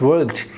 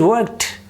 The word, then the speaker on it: worked: this word word you can't say you can't pronounce this word is worked it is worked the last sound is it worked worked you